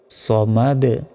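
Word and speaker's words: ٱلصَّمَد: করতে হবে আল্লাহুস আর এখানে সামাদ বলা যাবে না এখানে সিন নাই এখানে কি রয়েছে সদ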